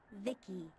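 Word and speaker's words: VICI: By the way, I'm V-I-C-I, pronounced Vicky.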